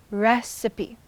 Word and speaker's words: recipe: Recipe is 3 syllables with stress on the first. Recipe.